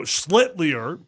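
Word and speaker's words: Schlittler: So, Slitier is the correct way to say it.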